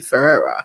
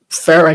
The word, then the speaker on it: Farah: So it is not my intention to continue to call you Ferah. is just Farah just seems so like I'm not done.